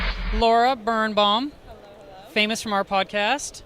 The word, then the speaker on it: Birenbaum: Birenbaum. Birenbaum. Birenbaum.